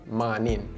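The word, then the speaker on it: mawnin: to say good morning however it is spelled a little bit different and it's also pronounced differently now the good is spelled g and instead of spelling morning we would spell it like m a w n i n good man or you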